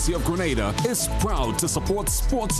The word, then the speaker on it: Grenada: So today, like we Germans say, we are in Grenada. But I heard in English it's called Grenada. Say it right. Grenada. Say it right. Grenada.